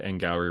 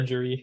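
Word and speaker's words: Angourie: so like people are being so mean right now to Ngauri Rice. Is that how Stop you that. say her name? Yeah, because I looked it up. I've been saying On her, Angery.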